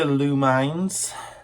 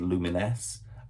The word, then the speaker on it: Lumines: However, what I discovered is that PlayStation can't even agree how it's pronounced. I saw some old adverts and some interviews with developers where they say Lumines and we also say Luminesce.